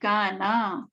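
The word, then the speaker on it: كانَ: 3b, kana. Kana, if you know, because this is a bit tricky, but kana is actually, it rhymes with basically the nasara, you know, the fatha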